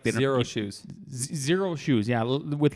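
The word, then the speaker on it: Xero Shoes: they make these shoes that feel like they're zero shoes zero shoes yeah with like a as an x so it's pronounced like that i think they made a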